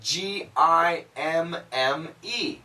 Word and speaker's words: gimme: So actually, some people write it G-I-M-M-E, gimme.